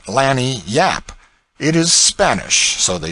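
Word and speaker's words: lagniappe: expressive handy word lanyapp they pronounce it lanny yap it is spanish so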